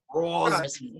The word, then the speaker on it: Crosby: It's Crosby with an R. Just get the R in there and we're good. Crosby.